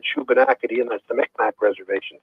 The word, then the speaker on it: Shubenacadie: I can't even begin to pronounce it. SHUBENACADIE.